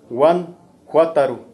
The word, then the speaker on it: Guanajuato: de los minerales, pero viene de la palabra purépecha, Guanajuato, Guanjuátaro, y Guan, son muchos, son varios, y Juátaro son cerros, Guanjuátaro, y con esto del español, y no, de no poder pronunciarlo bien, pues se queda así, Guanajuato.